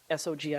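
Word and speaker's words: SOGI: like the act the abbreviation SOG I pronounce so G that shows up in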